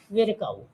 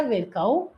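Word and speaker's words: Virchow: Rudolf विरकाउ, ठीक है, इनके रुडोल्फ विरको या विरकाउ, आप जो भी इसको बोलना चाहें बोल सकते हैं, प्रोनाउंसिएशन में रुडोल्फ विरको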